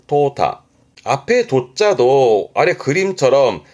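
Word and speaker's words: 淘汰: 발음이 토타 토타 앞에 도자도 아래 그림처럼 그 쌀을 싣는 쌀을 때 쌀 도자인데 그러면 이제 쌀을라는 것은 불필요한 거를 빼는 거거든요.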